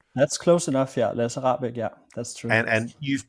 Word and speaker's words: Lasse Rahbek: with a documentarian called, forgive me if I mispronounce this, Lasse Rahbek. Is that a good pronunciation? Have I done all right? That's close enough, yeah. Lasse Rahbek, yeah, that's true.